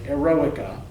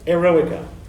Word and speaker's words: Eroica: Symphony, known as the Eroica, the Heroic Symphony, right? Not erotica. Students often make this mistake. No, there's no T in there, right? Eroica.